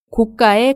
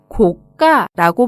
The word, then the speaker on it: 고가: 의미합니다 그래서 고가의 시계 고가의 가방은 아주 비싼 시계 아주 비싼 가방 을 의미합니다 또 이 단어는 발음의 주의하셔야 하는데요 고가가 아니라 고 까라고 발음합니다 다음으로 구매는 물건을 사다